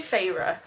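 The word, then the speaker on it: Feyre: you pronounce her name I'm going to go far far fire fire f e y r e far far far let's go Fara so farra is a Huntress the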